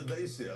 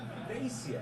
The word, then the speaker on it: Dacia: By the Renault badge, that's the Dacia, that baby.